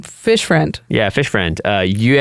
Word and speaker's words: Yue: Yue, if you want to go the correct pronunciation, but in the show they say Yui.